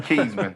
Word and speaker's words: Kezmond: Yeah, made he said everything- Kezmond. That's how you say my name, Kezmond.